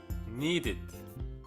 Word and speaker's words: needed: Needed. The ed is pronounced as id.